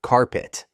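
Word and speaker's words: Card-Pitt: The result, a team so bad they went 0 to 10 and were nicknamed Card Pit, pronounced Carpit, because everyone walked all over them.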